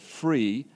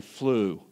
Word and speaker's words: Flew: were talking about was I said free and his name is really flew Anthony flew and I'm